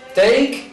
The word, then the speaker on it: take: Mira, take y make. ¿Qué es lo que se pronuncia? Se pronuncia la K, pero nunca se pronuncia la E.